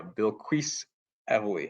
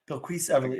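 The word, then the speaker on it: Bilquis Evely: messing everything up um it is apparently bill yeah Bill quis Ely yeah bqu Everly okay well thank you so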